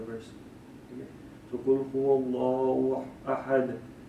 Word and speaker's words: ahad: So Qul huwallahu ahad, or you could say ahadun, because once you're not stopping at the verse, that means you would pronounce the sound of the letter.